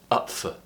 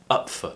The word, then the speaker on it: up for: something usually pronounced as up for up for because four is not usually a very important word so we pronounce it in its weak form which is we use